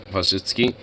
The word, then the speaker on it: Wojcicki: She's pronounced Wojcicki.